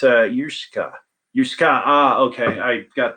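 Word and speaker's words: uisge: pronounce water in scottish gaelic and it's uh yusuka yusuka ah okay i got the last syllable a little bit goofy anyway let's see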